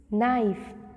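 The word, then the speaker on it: knife: Okay, जैसे second silent word है हमारा के. यहाँ पर सब स्पेलिंग में के लगा हुआ है लेकिन जब आप इन्हें पढ़ते हो तो आप के को यूज़ नहीं करते हो. जैसे this we read no, knock, नी, नाइफ, knob, nil.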